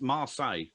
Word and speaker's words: Marseille: It's Marseille.